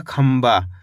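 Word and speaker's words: खंभा: करके मैसेज करके बताना खम भ तो मिलके बन जाएगा खंबा इसके अंदर भी अपन ने आधा मा का उच्चारण करा है खंबा ए वम तो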